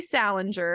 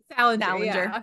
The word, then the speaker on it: Salinger: Salinger, and I think that's how you pronounce his name.